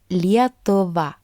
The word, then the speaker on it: Lietuva: This diphthong is pronounced similarly to the English word ear. Personally, it does sound very much Lithuanian to me because it can be found in the word Lietuva.